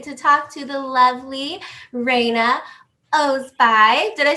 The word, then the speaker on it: Reina Ozbay: We have an amazing opportunity today to talk to the lovely Reina Ozbay.